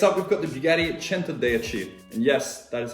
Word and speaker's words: Centodieci: it's overrated next up we've got the bugatti chanter they achieve and yes that is how you pronounce it i've heard americans pronounce it and